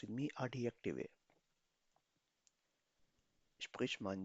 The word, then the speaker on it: Adjektive: J को हमेशा J यानी Y से प्रोनाउंस किया जाता है.